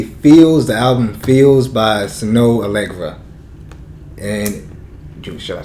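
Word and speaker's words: Snoh Aalegra: The album "Feels" by Snow Allegra, and should I say how it's spelled? Because sure. I mean, it's really odd. Yeah. So name. Snow Allegra is spelled SNOHAALEGRA. Snow Allegra.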